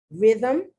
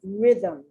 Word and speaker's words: rhythm: are affixes on aphids rhythm not rhyme rhythm rhythm doesn't it look like there's no vowel in that word so you